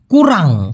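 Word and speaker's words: kurang: এসে দাঁড়াবে সে কুরাং কুরাং উচ্চারণ করতে কষ্ট হলে আমার সাথে একবার উচ্চারণ করুন প্লিজ কুরাং কুরাং একবারে হবে সেং কুরাং গুগুর গুগুর মানে হচ্ছে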